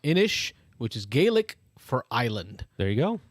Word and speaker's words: Inis: corrected here on the comments uh it is pronounced inish which is gaelic for island there you go